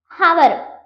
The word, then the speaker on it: hour: there are few words okay where H is silent. For example, if you take hour అది హవర్ కాదు, ఎందుకంటే హెచ్ అనేది silent. So ఇట్ ఇస్ అవర్, ఇట్స్ 1 hour, ఇట్స్ 2 hour, like